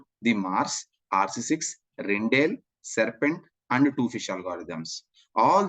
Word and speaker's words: Rijndael: Of course, some people rhyme it as Rijndael also, but doesn't matter. My pronunciation is Rijndael.